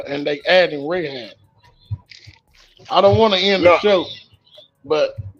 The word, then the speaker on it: Rahab: me with that um RAB that's what the pronunciation is Raab the Harley was in